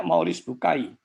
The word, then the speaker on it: Maurice Bucaille: Membacanya Maurice Bucaille.